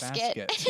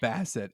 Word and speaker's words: Bassett: I said I almost said Basket. Yeah, Angela Bassett.